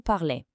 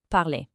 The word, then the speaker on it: parlez: And the vous ending e z sounds like a sharp a, vous parlez. So, you've only got three sounds to remember total. Parle, parlons, parlez.